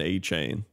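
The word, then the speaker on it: Achane: name on the Dolphins people are saying Devin uh a chain or something but he said it's pronounced Devin a chain so there you go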